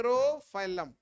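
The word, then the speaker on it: Pterophyllum: fish angel fish रोफा रो फाइलम प silent है रो फलम तो यह हो गया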